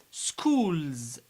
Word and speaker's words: schools: Schools. Schools. We pronounce S Z because it's preceded by L.